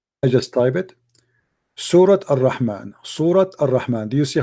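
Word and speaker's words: الرحمن: You know what I've learned is when you say Ar-Rahman and you say it like with the Ar-Rahman, this is like with the alif, then you say it like long, you know. Right, Ar-Rahman.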